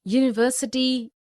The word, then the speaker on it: university: unicorn a useful article because these words university union european eu unicorn useful begin with a consonant sound similarly we see a